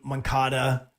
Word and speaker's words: Moncada: White Sox right now are leading the AL Central, and they did it by bringing up Eloy Jimenez as well as Juan Moncada.